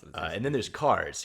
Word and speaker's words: Kars: And then there's Cars, who is KARS, but just Cars.